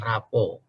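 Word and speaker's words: rapport: baby er flexibility dan rapuh teman-teman jangan salah baca ini raport bukan raport anak-anak kita di sekolah ya bacanya rapuh outcome itu artinya bahwa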